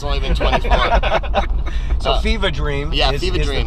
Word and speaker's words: Fevah Dream: It was Fever Dream, but you have to say it like you're from Boston. It's Fevah. F-E-V-A-H, Fevah Dream.